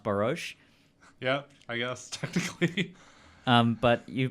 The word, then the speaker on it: Boros: guest tonight is Boras how's it goin pretty good how are you I'm great I just found out that your last name is actually pronounced barouche yeah I guess but